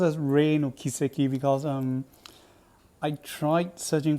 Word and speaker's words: 黎の軌跡: of took me off uh it should be pronounced as rain or kiseki because um I tried searching for Kuro and